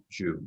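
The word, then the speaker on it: Xu: In fact, he has an heir called, is it Shu? Is that how you pronounce it? X-U? Shu, yeah. Shu.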